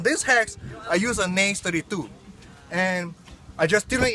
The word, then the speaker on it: Naze 32: Some people pronounce it as Nazi. I don't want to bring history back, you know. Let's call it Naze 32, okay.